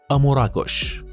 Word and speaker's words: أمور إن أكوش: اسم مراكش يرجع إلى الكلمة الأمازيغية أمور إن أكوش، وتنطق بالأمازيغية أموراكوش، وتعني بلاد الله أو أرض الله، وهي دلالة لها بعد عالمي والانتماء إلى الإنسانية جمعاء.